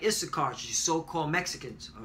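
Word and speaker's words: יִשָּׂשכָר: That's from the Argentinian to Chileans, and last but not least, all right, Issachar, which is so-called Mexicans. All right, Yashashkar is how you say it in Hebrew, which is he is hired.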